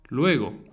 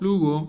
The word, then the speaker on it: luego: Luego, pronounce each vowel separately. They don't merge. Luego. Luego. It's not Lugo, it's not Lego, it's Luego.